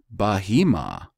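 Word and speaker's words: בְּהֵמָה: It is behma. Okay, let's see. The Jews would have you pronounce it Bahima. It's Behm.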